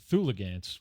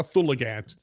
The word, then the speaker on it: Thulgant: And two, let's not put an extra syllable in this crazy creature's name. It's not a Thulgant, it's a Thulgant.